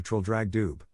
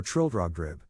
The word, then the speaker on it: Trildrogdrib: It contained a warrant for conducting me and my retinue to Trildragdub, or Trildrogdrib, for it is pronounced both ways as near as I can remember, by a party of 10 horse.